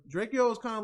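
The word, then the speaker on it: Drakeo: So I feel like Draco is kind of like a YG, but he's like really calm.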